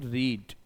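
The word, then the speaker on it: read: अब देखो पढ़ने के लिए वर्ड है रीड और रीड का थर्ड फॉर्म रेड बनता है बट स्पेलिंग वही होती है। रीड के तीनों फॉर्म देख लीजिए। रीड रेड एंड रेड। बट यह पहला रीड है। सेकंड और थर्ड को रेड बोलते हैं। ध्यान रखना पड़ेगा। जब सेकंड कहां पास्ट में थर्ड कहां हैव और हैस के साथ स्पेलिंग वही है बट इनको रेड बोला जाता है ध्यान रखना तो बनेगा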